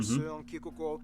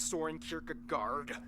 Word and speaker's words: Søren Kierkegaard: Hans Christian Andersen, philosopher Søren Kierkegaard, or whether... That's actually how you pronounce his name. Wow. It's not Soren Kierkegaard. It's or whether it be